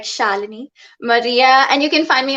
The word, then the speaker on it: Shalini: That's pronounced like Melanie, like Shalini Maria.